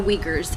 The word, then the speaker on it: Uyghur: If you look into them, it's pronounced Uyghur or Uyghur, is how they say it. But that's why it's called Uyghur and not Uyghur or Uyghur or something else. It's Uyghur.